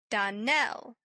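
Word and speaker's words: Donnell: Darnell accent on the last syllable and St.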